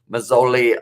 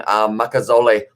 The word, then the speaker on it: Makazole: No Mazzoli, no, I've pronounced that first name wrong. Makazole, Mapimpe, I believe it is.